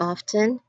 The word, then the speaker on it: often: like dead, doubt, and silent T in listen and often. Though some people do pronounce the T in often, like often, but it's also not pronounced at some with other people.